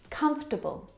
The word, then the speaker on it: comfortable: Comfortable. Now, this word just like vegetable has an extra vowel in there that we don't need to pronounce.